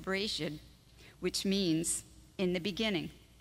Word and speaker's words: Bereshit: And Genesis comes from a Hebrew word pronounced Bereshit, which means in the beginning.